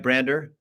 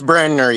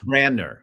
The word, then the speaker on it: Brandner: Did I say it right, Brander? It's Brandner, yes, sir. Brandner.